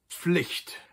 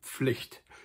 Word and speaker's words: Pflicht: Die Pflicht, very common word, die Pflicht, used to describe any kind of duty or responsibility that a person has.